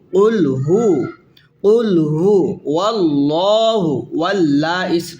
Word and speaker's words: قل هو: It's not qul fu. Qul hu.